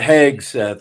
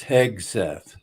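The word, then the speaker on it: Hegseth: times Heth heg he Heth yeah it's not heg Seth it's heg Seth okay don't get don't get picky on me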